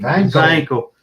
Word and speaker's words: Wankel: Don't forget the B's, W's in German are round the other way. It is a wankel engine. Vankel.